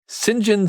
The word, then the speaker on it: St John: going by the name james st john smith or as he pronounced it sinjin smythe that's a good name